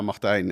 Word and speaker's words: Martijn: What's the perfect pronunciation? Yeah, Martijn is the pronunciation.